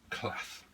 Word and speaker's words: class: Class. Class. Rhymes with arse. Well, it should do, yeah, but yours doesn't. It rhymes with an American ass.